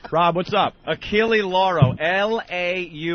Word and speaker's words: Achille Lauro: Achille Lauro. Lauro. The L is silent. It's the Achille Lauro. I've been saying it wrong. What year was You that? have? Achille Laurel, I thought it was.